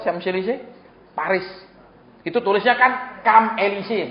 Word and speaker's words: Champs-Élysées: Itu tulisnya kan Champs-Élysées, bacanya Champs-Élysées.